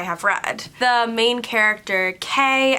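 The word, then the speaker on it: Kaye: The main character, Kay, I think her name is pronounced, has sort of always been friends with fairies, and no one ever believes her.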